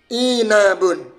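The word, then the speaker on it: عِنَبٌ: Bisa dibaca anbun, unbun, inbun, atau inabun. Ternyata kalimat atau kata ain, nun, ba ini ikut wazan apa? Ala wazni fi'alun. Fi'alun. Maka cara membacanya inabun.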